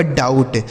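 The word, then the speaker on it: doubt: यू का उच्चारण औ यहां बी साइलेंट है टी से ट लिखा गया आपका डाउट डी ओ B sorry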